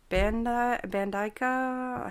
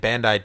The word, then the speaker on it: Bandai: It's like Bandaica. Hang Bandai?